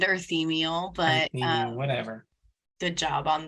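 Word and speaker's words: Urthemiel: Uruthamel, or D. Dumont? And Shelby is laughing at me for my pronunciation. I tried. It's Andoral and Earthemiel, but Whatever.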